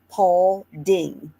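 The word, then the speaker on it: Paulding: So, it's just spelled like Paul only with d i n g. So, Pauling. Okay.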